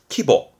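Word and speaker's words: 規模: 다 뭐가 거의 99%입니다 근데 하나 빼고요 그 하나가 뭐냐면 요거 요거는 앞에 글자가 규 자라 규 그래서 규모를 말하게 돼요 대규모 소규모의 규모 이때 발음은 키보 키보 그래서 꼭 챙겨 주셔야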